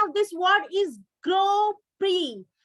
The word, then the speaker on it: Grand Prix: i say to you this is not the grand prix this is the pronunciation of this word is grow pre grow pre right this is the formula racing car the